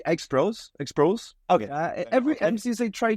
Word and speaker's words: Exproz: I say Exproz. Okay. Every MC they try to they ask me before it, but I said just pronounce it the way you want, But yeah, Exproz is the proper way to say it.